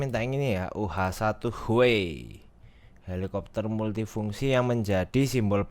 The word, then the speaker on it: Huey: Bacanya Huey.